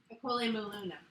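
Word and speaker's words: Okole maluna: No. Akole maluna. Akole maluna. That's how we say it in Hawaii.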